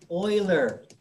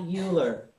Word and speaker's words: Euler: right it's box concerto same thing euler not euler one of my pet